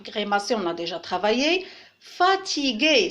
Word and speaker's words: fatigué: Fatigué, c'est le son G, parce qu'il y a le U après le G, qui ne se prononce pas.